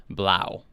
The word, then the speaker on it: 3LAU: Or Blau. I don't know, because since they use those numbers sometimes as letters. Wait, how do you spell it? 3 and then LAU. Oh, okay, yeah. Pronunciation, Blau. Yeah, that's why I was like, is that supposed to be a B?